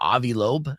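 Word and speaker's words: Loeb: Well, you know, um what a lobe, is that how you say his name?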